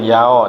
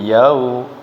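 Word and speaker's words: يَوْمِ: Maliki yaumiddin Maliki yaumiddin jangan Yao tapi yau u ya waw sukun buinya u maiki yaumiddin Maliki yaumiddin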